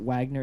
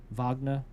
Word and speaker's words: Wagner: Now, notice I realized his name Wagner Moura, it's not Wagner, it's pronounced kind of like Nightcrawler's name in X-Men, Vagna.